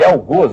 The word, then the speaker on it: algoz: Os dicionários todos indicam que a pronúncia rigorosa é essa, algoz. Que fosse aberto. Todo mundo fala algoz, né? Mas é algoz.